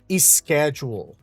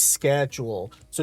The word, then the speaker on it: schedule: we have here, it's very common for people to say "is schedule", "is schedule". So, to add that vowel e right before the s because that's usually that's our perception of a syllable would be. Our brain would try to automatically try to complete that what would look incomplete to us. But what we would say is "schedules", "schedules". There's no vowel sound that would be right there in the beginning.